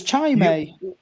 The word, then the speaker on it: Chimay: It's not Chimay, it's Chimay. Did you have some?